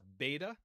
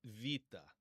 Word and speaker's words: beta: Um, but in modern Greek pronunciation, it's going to be pronounced vita.